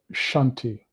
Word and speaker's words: Shanti: counting with the Sanskrit mantra Shanti Shanti s two syllables you'll say it twice